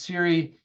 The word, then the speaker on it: Siri: Apple has their enhanced Siri it's it's one of the most challenging wake wordss out there it's just Siri it's not hay Series so it's two syllables there's no good hard